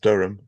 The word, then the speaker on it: Durham: uh but your map had Durham and it's pronounced Durham uh I know it's quite uh confusing because